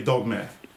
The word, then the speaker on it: dogme: is spelled d-o-g-m-e and because we're from norway the e is pronounced a so we say dogma which would be d-o-g-m-a